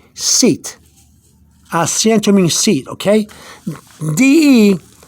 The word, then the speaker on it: de: D-E, de. You pronounce it D-E-H.